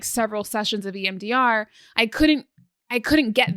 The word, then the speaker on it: EMDR: and she's doing MDR MDR am I saying it right yeah MDR EMDR thank you and um I had